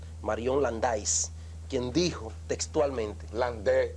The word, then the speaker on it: Landais: landais quien dijo textualmente Land porque es una pedido francés se escribe landais pero el a se pronuncia e el Bongo ahí aprenda